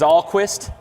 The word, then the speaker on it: Allquist: let you guys know i know i mispronounced his name it is allquist allquist right before i announce